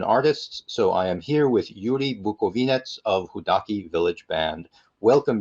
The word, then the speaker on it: Yuri Bukovynets: Yuri Bukovynets: You pronounce it very well. I'm Yuri Bukovynets and I'm living so in the Ukrainian Carpathians, in the very western part of Ukraine.